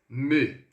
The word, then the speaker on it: me: Então, cuidado aqui com a pronúncia desse me, tá? ME no francês, eu sempre vou pronunciar dessa forma, ó. Me, devido ao fato da letra E, ou do E que a gente fala no português, ter esse sonzinho.